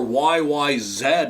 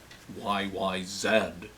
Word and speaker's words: YYZ: YYZ or YYZ, as we would say in Canada. I should say it properly. YYZ.